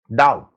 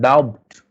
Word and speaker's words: doubt: Doubt. It's not doubt. Lane. It's not dapt. It's that. So we do not pronounce some words.